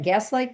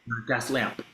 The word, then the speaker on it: Gaslamp: I want to call it Gaslight District. Did I say it right? Gas lamp.